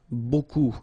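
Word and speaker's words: beaucoup: Remember you don't pronounce the final p. Okay. And then you get this combination of vowels u a and you get the sound o. So technically it's b.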